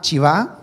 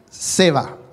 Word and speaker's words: Seba: también podríamos decir y que le dijimos que se llamaba chivas pero revisando con el pastor vimos que la pronunciación correcta era se va como se va de